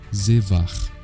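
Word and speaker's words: זבח: Já a palavra sacrificar, no hebraico, pronunciamos como zevar.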